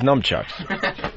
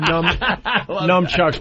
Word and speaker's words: nunchucks: But you could also use them as nunchucks.